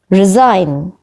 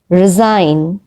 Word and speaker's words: resign: not pronounced number six resign resign in the word resign g is not pronounced number seven seen seen